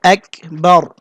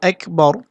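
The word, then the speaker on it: أكبر: র পুর করতে হবে আবার অনেকে কাফের জায়গায় গাইন বলে আকবার বলে বা অন্য কিছু বলে এটা সম্পূর্ণ গলদ হবে এখানে বলতে হবে আকবার র পুর করতে হবে আল্লাহু আকবার তো এই শব্দটা দুইবার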